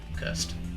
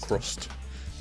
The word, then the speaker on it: Cursed: CHRUST. No, URST. Cursed. That was a Not crust. Not crust. Cursed.